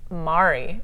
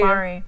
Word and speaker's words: Mary: So my grandmother, by the way, side note, she pronounces her name Mari. She spells it Mary. Really? Mari. To be different? Yeah. That's awesome. Well, she was also born in Mexico, but she's 100% Hungarian. Oh wow. So that's how they pronounce their A's.